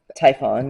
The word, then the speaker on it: Typhon: So, I created this um mystical creature from the Greek mythology and I don't even know how to pronounce his name. What is it called? Typhon.